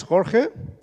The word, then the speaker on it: Jorge: so my name is Jorge I know it sounds difficult to pronounce but I think you use an X for the sound here and you have a similar sound here so you're more than